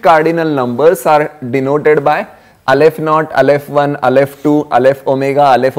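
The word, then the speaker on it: aleph-naught: that notation is Alf not how to draw Alf not it's a uh Hebrew letter yeah Hebrew first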